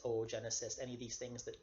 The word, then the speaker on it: oogenesis: with the 2 O's, to put an umlaut, 2 little dots over the second O. That's basically like a pronunciation placeholder that shows you pronounce each O separately. So it's not oocyte or oogenesis, it is OO.